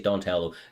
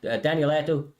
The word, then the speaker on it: Danieletto: Donna is a crafty competitor, and Danieletto, I always say his name wrong, I always say Donatello. Danieletto, he's been on the up and up, man.